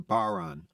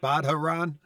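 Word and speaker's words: bodhrán: It's like really- the Irish drum is a baran, and it's spelled Bodhran. So people are always saying, "You playing that Bodharan?"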